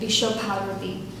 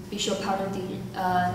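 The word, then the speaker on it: বিশ্বভারতী: So, educationist, he founded his university named Bishopharati. In Bengali, it means doesn't make any sense. People usually translate it into International University of India, but I prefer to pronounce it in Bengali, Bishopharati.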